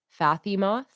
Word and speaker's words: Fatima: here okay oh Jess that is not a pronunciation that I even thought about Fatima oh okay I didn't even think about the th not being a th sound Fatima hey Kalyn welcome